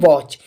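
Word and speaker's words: watch: ठीक है टच पड़ेगा लेकिन मैं यहां पर बात करूं यहां पर टी साइलेंट होगा इसके लिए हम पढ़ेंगे वच तो दोस्तों इसी वीडियो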